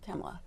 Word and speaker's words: Kamala: Are you saying Kamala or are you saying Kamala? I say Kamala because I don't see any point in deliberately mispronouncing her name. Like Trump does every single time he speaks.